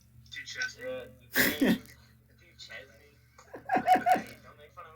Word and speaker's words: Duquesne: So now we have the school that I still don't know how to pronounce, but I think it's Duquesne. Yeah, that's right. Duchesne. Yeah, Duquesne.